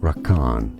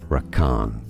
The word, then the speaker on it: Rakan: confused by stay tuned Rak Khan is how it's usually pronounced in the game rakan rakan it's easy and